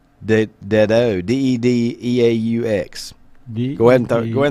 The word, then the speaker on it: Dedeaux: Okay, you know how it's EAUX, the Cajun. O. Dedeaux. DEDEAUX. Go ahead and throw it out there, Mike. Pronounce that one for me. Rod DEDEAUX. So I'd say Dedeaux. Dido, yeah.